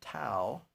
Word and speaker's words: Tao: And so I want to thank Adam Tao, that I mispronounced his name the other day. It rhymes with now.